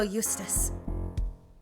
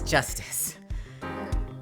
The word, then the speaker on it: Justice: District Court defendant Lobby number two Apollo Eustice that's that's Justice better learn how to say it if you ever want